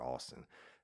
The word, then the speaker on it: Astin: Y'all, it's still hard for me to pronounce the name, but it's spelled Astin, but they call her Austin.